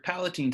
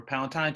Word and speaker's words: palatine: Then you got your palatine tonsils or palatine tonsils. I've heard it pronounced both ways.